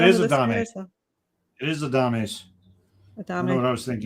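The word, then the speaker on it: Adames: I want to say Adams, so it's probably a Dame by the way it's spelled. That's Adams. Yay! Actually, no, it is a Dame. It is a Dames.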